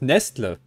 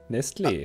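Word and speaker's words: Nestlé: von, und ich spreche es absichtlich falsch aus, Nestle abgebildet? Wie viele Vögel? Was ist denn da falsch? Erstmal, wie spricht man es richtig aus? Nestle.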